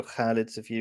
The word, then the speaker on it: Khalid Safir: Welcome to another discussion between me, Khalid Safir, or Khalid Safir, if you can pronounce it properly, and Michael Jones.